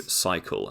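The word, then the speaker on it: Psycle: spin class you know i go to cycle and that's spelled p-s-y-c-l-e because you can't just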